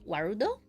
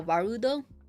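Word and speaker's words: Warudo: use the tracking app wudo is that I think that's how you pronounce it yeah vudo w a r u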